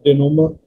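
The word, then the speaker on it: dénouement: u n e m e and it is pronounced as denomer options are the ending of a committee the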